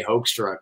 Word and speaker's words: Hoekstra: we're just you know look my name is supposed to be if you do the Dutch pronunciation have like a hook you know like a hook but right nobody would ever get that out of hoek so I I just say hoax truck because I have mercy on